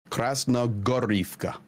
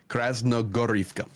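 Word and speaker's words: Krasnohorivka: So when you see Krasnogorivka, so whenever you see the H and you're naming these towns, make the H a G sound. Okay. Krasnogorivka.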